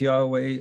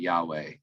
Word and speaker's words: Yahweh: saying the tetragrammaton yodej yahweh it's the way it's usually kind of pronounced i think that's a pretty accurate representation of the way they would have originally spoken it and i think god